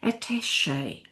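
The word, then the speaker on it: attaché: So we get attach at an e and it becomes French attache.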